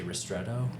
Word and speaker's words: ristretto: And then also like how do you say ristretto?